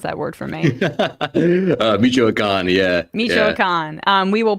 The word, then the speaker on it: Michoacán: You're going to have to pronounce that word for me. Michoacán, yeah.